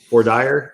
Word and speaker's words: voir dire: So there are entire teams of people who are hired for, and I always say this wrong, voir dire.